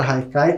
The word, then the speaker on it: Haikai: como vocês podem ver a palavra Haikai como ela é de origem japonesa se escreve com h mas tem esse som de R e muitas vezes pode